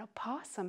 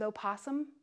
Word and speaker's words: opossum: hand you have an opossum hanging around your yard and do you know what rhymes with opossum awesome just remember that oh